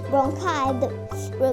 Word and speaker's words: bronchi: Bronchi, the pronunciation is bronchi.